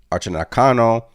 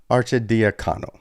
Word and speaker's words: Arcidiacono: They're trading Ryan Archinacano and Shri to Portland. New York was just short of the threshold for deal, so needed to include Archin. Why can't I pronounce these damn names? Arcidiacono.